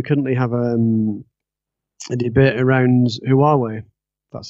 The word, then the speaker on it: Huawei: In the UK, we currently have a debate around Huawei. That's how you say that. That's how you pronounce the name.